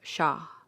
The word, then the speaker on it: Shah: The H in Mahdi is strong and soft in the terminal H of Shah.